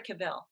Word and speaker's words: Cavill: I thought what Cavill, is it Cavill or Cavill? Which is the right pronunciation?